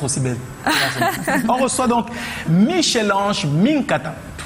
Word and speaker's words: Michèle Ange Minkata: c'est normal d'être aussi belle on reçoit donc Michelange Mata tu prononces bien oui bien alors qu'est-ce qu'on peut